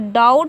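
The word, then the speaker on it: doubt: और डाउट पढ़ा जाएगा, बी यहाँ भी साइलेंट रहेगा।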